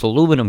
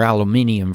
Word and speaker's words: aluminum: Or aluminium for you people that pronounce it differently. We actually spell it so it's pronounced aluminum. We don't have the IUM on the end in America. And it's 300 million plus people saying it that way.